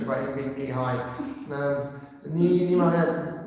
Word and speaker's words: Nehemiah: Nehemiah. That's what the dictionary said. Nehemiah, it's just correct. I was going to Nehemiah because I can never think of the English joke about him being knee-high. So Nehemiah 1.